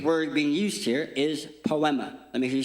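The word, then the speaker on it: ποίημα: But the actual Greek word being used here is poma. Let me hear you say, "Pema." Say it like you're not depressed. Poama.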